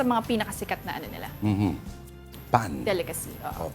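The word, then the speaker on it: pain: Pan. Delicacy. Oo. Pronunciation pa pero ang spelling P-A-I-N.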